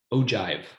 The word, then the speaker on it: ogive: And it's pronounced Ogive.